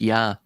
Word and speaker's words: Ea: It's also pronounced yah by the way in aadian. The ea is pronounced yah.